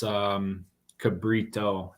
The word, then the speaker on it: Cabriuto: If I may, it's Cabrito. It's Rito.